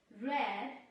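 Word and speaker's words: read: से बोल रही हूं रेट की सेकंड फॉर्म को प्रोनाउंस अलग तरीके से किया जाता है स्पेलिंग से होती है आर ये दी रीड एंड रद रेड भी इसे पढ़ रहे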